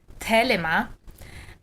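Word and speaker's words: Thelema: tradition of the lima which would be pronounced in greek telema and sex magic just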